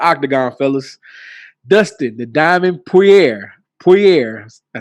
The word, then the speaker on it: Poirier: Dustin, the Diamond Poirier, I said it right that time, shocked the